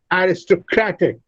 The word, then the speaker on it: aristocratic: Aristocratic. Gra receives the fourth syllable, receives the primary stress, and the first syllable receives the secondary stress.